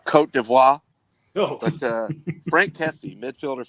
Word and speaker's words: Côte d'Ivoire: And my favorite player of the tournament, by far, it plays for the Ivory Coast, as here labeled in the French pronunciation. Côte d'Ivoire.